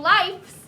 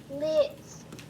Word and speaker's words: lives: We don't say a cat has 9 lives. We say a cat has 9 what, Carla? Lives. Not lives. It rhymes with life.